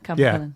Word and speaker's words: Capel Celyn: Well, in Wales, there's another one that was called Capel Celyn. And Capel Celyn was Is that how you say it? Capel Celyn? it's Capel Yeah, Capel Celyn.